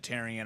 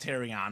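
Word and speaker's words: Terrion: I think pronounced it tyon I think it's supposed to it's actually pronounced terion I believe Stephen terion Arnold U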